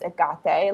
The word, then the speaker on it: Hecate: It's like how people say Hecate, like, that doesn't bother me when the Greek pronunciation is Agate, like, whatever, as long